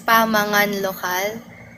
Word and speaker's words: Pamangan: So yung pronunciation niya po is Pamangan and yung Pamangan po is Kapampangan word meaning pagkain.